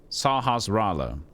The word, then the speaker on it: Sahasrara: You know that pronunciation of the name of Sahasrara? It was correct. At least a link to the past. Sahasrara.